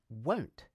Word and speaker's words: won't: The contraction won't is pronounced the same way as don't, except for the initial consonant.